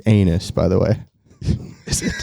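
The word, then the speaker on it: Anas: It's anus by the way.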